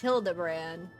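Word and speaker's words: Hildibrand: Since parting ways, I've searched every alley in Diabar and Everkeep for signs of this Hildigrand character. It's pronounced Hildabbran.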